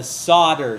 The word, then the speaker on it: solder: would call that the solder side do not pronounce the L it's not solder or